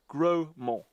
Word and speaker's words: Grosmont: around it is called grosmont but it's spelled much how the Normans would have pronounced it gromo meaning big hill the